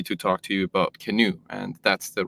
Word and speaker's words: CNOE: and we're happy to talk to you about canu and that's the right pronunciation actually canu with that Brandon yeah so the canoe project